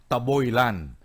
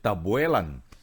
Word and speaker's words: Tabuelan: Kasi ang pagkakapronounce namin mga Cebuano, Taboylan. But Tabuelan, oh. spelling is Tab Tabuelan. Tabuelan. We pronounce it Tabuelan.